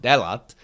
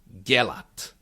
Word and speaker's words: dělat: So it becomes it's not delat but gelat so it's a lot.